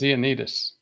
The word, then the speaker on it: Ioannidis: John Ioannidis. I always misspell his last name. It's a hard name to spell. It's hard to pronounce. It's Ioannidis. Well, it's Greek.